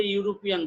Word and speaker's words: European: A European boy. Here the sound of E is like U.